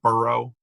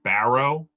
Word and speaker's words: Burrow: They think I'm saying Barrow, like Michael Barrow.